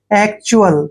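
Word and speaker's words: actual: यहां पर क करेंगे जब भी सी के बाद टी आता है तो सी का उच्चारण क होता है और देखिए दोस्तों टी यू ए एल का उच्चारण जहां भी टी यू ए एल आता है उसका उच्चारण आप करेंगे चुअल ठीक है ना चुअल देखिए एक्चुअल क्या पढ़ेंगे इसको एक्चुअल एक्चुअल का मतलब होता है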